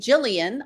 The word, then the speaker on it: Gillian: And my name, Gillian, a lot of people don't know how to pronounce it, sort of like Jiff and Jeff, Jiff and Gif.